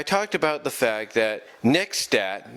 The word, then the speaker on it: Nexstat: about the fact that next stat not next star that was my fault for mispronouncing their username wrong but next stats patreon